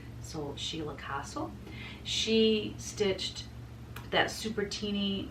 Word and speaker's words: Castle: She told me how to say her name because I said Cassell, and she said, not that it bothers me, she said, but just for your information, if you rhyme it with fossil, so Sheila Castle.